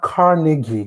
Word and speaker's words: Carnegie: It's pronounced Carnegie.